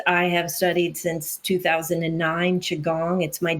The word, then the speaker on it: Qigong: Qigong. Qigong. Qigong. Qigong. Qigong. Mhm. Okay. Yes. Now that I've butchered the pronunciation and you said it correctly,